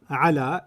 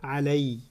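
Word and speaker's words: عليّ: When you attach it to the pronoun, it doesn't pronounce ala, it pronounces alay.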